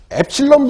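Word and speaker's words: ε: 자, 이 이온화 에너지는, 거기 보시면은 엡실론 분의 1이라고 되어 있잖아요.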